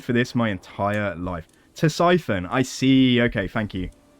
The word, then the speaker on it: Ctesiphon: Is it Ctesiphon or Sisyphon? Ctesiphon.